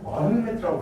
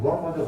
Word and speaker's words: 무함마드: 아랍어식으로 발음하면 무함마드가 왔다고 합니다. 그래서 무함마드로 지금 교과서에 또 바뀌었더라고. 난 어릴 때 이 사람 마흐메트로 배웠거든. 그거 영어식 표현이라고 합니다. 그래서 무함마드가 아랍식 표현이라고 합니다.